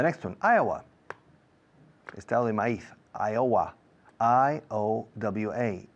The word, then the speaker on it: Iowa: i a the next one Iowa is Iowa i o w a ioa is Iowa the next one Hawaii h-a-w a